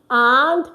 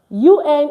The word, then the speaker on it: un: All right, so let's get on now. So you want to say a or an for a masculine word. You say an. UN is pronounced an.